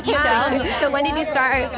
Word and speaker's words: Ixchel: Will you say your name for me so I can pronounce it correctly? It's Ixchel. Ixchel.